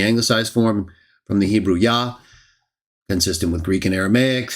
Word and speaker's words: Jah: Yah, consistent with Greek and Aramaic, the three biblical languages. And of course, I also believe that his name was originally pronounced Ya.